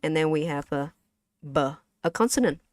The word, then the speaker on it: ba: Okay, so last one we have a, and then we have a b, a consonant b. So how do you say this in Vietnamese? You're right. It's ba, b, a, ba, right?